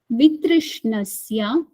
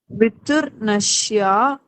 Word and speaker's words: वितृष्णस्य: Drashta Anushravika Anushravika Vishaya Vishaya Vitrishnasya Viturnashya not viturnasya. Vitrishnasya. With Trishna. Say Trishna. Krishna.